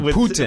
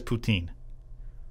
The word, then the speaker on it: Putin: I like it how you pronounce his name like it's a Canadian dish Putin. with cheese curds and gravy on it. I've heard it different ways on Putin.